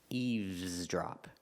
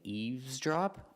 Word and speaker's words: eavesdrop: pronounce the V sound eavesdrop but when you hear people talk people pronounce it both ways with the V and without the V sound so you can say eavesdrop or eavesdrop people say both so